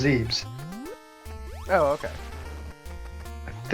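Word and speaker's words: Zebes: to zeth well yeah they spell it zeth but they pronoun it's always been pronounced zebs oh okay I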